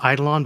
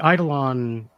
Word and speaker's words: eidolon: needle on yeah right I go with eidolon but different people pronounce it differently and I didn't invent